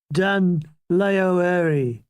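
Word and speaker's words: Dún Laoghaire: Dun-Laoeri. That's the proper pronunciation.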